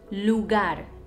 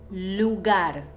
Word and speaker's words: lugar: with the vowels happens when the r is within a word and none of the previous conditions are met or when the r is at the end of the word for example face lugar lugar place i know it's a